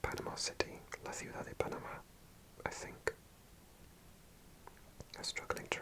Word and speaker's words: Panamá: In Spanish, the stress is on the A, so you actually say Panamá.